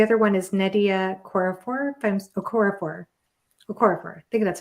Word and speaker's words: Okorafor: Okorafor.